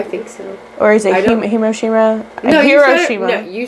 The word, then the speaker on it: Hiroshima: have happened not right after but soon after hiroshima am i pronouncing that correctly i think so or is it hiroshima no hiroshima you said it right the first